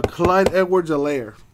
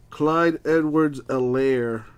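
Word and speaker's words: Clyde Edwards-Helaire: kid's name is uh clyde edwards a lair the h is silent clyde edwards elaire the rookie running back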